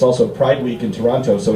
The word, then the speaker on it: Toronto: And it's also Pride Week in Toronto. So, it's going to be fun. It's going to be awesome down there. Pronounce it Toronto. Toronto. I'm from there. Oh, thank you. Yeah. It's not Toronto.